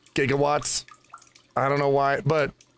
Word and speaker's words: gigawatts: Because he said 1.21 gigawatts all the time. But it's pronounced gigawatts.